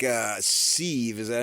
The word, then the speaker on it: Svi: I think a kid like uh Svi, is that how you say it? Svi.